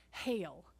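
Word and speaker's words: Geel: town in Belgium called Hale. And it's spelled really funny, G-E-E-L-L. Yeah, G-E-E-L, but they say Hale.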